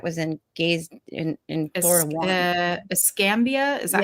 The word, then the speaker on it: Escambia: Escambia, is that how you say it?